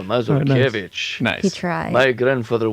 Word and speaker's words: Masurkevitch: Everybody, please welcome to the show, Masurkevitch. Yes. Is that right? Yes, and with the OG pronunciation as well, Masurkevitch.